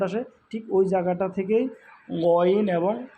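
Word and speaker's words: غ: কণ্ঠনালীর শেষ ভাগ হইতে উচ্চারিত হয়, আওয়াজকে পেঁচায় উচ্চারণ করতে হয় 2টা হরফ। সেটা হলো গইন, গইন, হ, গইন, হ। গরু জবাই করার পরে যে শব্দটা আসে এরকম একটা শব্দ আসে, সাউন্ড আসে, ঠিক ওই জায়গাটা থেকেই গইন এবং খ উচ্চারিত হয়।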